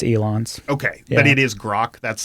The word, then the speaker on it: Grok: Okay, but it is Grok.